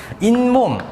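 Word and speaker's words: 잇몸: 그래서 그 니은미음 앞에서 니은 소리가 덧나는 경우데 어떤 것들이 있냐면 인몸 그치 이와 몸이 합쳐지는데 인몸이라고 해서이 앞에서 발음이 니은 소리가 덧나잖아 지금.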